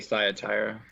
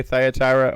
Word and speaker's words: Thyatira: at the church in this pronounced different ways the Church of Thyatira it's here how do you say it Chuck I say science higher you say Thyatira okay we may say it different ways that it's fine it'll